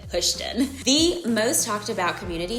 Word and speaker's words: Houston: And yes, you pronounce it Houston.